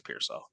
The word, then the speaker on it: Pearsall: I think it's Pearsall.